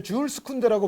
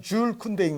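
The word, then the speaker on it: Jules Koundé: 요 이제 쿤데 선수가 저도 예전에는 이제 줄스 쿤데라고 발음을 많이 했고 또 요즘 어떤 데 보면 쥐일스 쿤데라고도 나와요. 네. 근데 가장 정확한 발음은 줄 쿤데인 것 같습니다.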